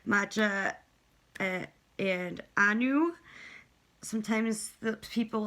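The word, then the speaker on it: Macha: Then for Maca or Matcha, I've heard various pronunciations. I've said matcha since I was 14, and even if that's the wrong pronunciation, I've been saying it for 16 years.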